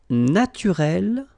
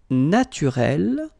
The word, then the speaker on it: naturel: Naturel, naturel. So here you can see that we write them differently, but then phonetically they are the same.